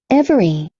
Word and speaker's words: every: every, Every, não every. Se eu colocar esse eu vou ficar com every, 3 sílabas. Eu tenho só 2. Every, every. fasten, Fasten, fasten.